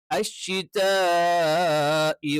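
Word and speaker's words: الشِّتَاءِ: അശ്ശിതാഇ വസ്സൈഫ്. അശ്ശിതാഇ, ഷ എന്ന് പറയുന്ന അക്ഷരം അത് നാവിന്റെ മധ്യഭാഗം അതിന്റെ മേലെ അണ്ണാക്കിൽ ടച്ച് ചെയ്തുകൊണ്ടാണ് ഷ എന്നുള്ള ഉച്ചാരണം വരിക. അത് അവിടെ തന്നെ ഉച്ചരിക്കണം.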